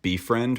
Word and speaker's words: BFRND: The music for this is likely been made by Befriend, which is spelled BFRND, who you can find on SoundCloud.